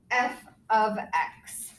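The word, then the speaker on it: f(x): f parentheses x okay we don't say it as f parentheses x this is how we say it right here so this is how you would say f f parenthesis x is really f of x so that's how you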